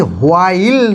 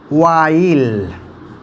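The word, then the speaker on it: while: এটি হোয়াই না, ওয়াই, ওয়াই, হয় না কিন্তু। এটি হোয়াইল না, ওয়াইল, ওকে, ওয়াইল। হাউ, হু এবং হুম সাউন্ডগুলো ঠিক আছে, প্রনাউন্সিয়েশনটা ঠিক আছে আমাদের, কিন্তু উইচ, ওয়েন, ওয়ার, ওয়াই, ওয়াইল exact যে সাউন্ডগুলো কিন্তু আমরা এখানে সবগুলোতেই হ উচ্চারণ করি, যেটি হ উচ্চারণ হবে না।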